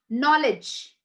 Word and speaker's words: knowledge: g edge hedge veg knowledge you don't say edge knowledge no d goes silent right yes sarita and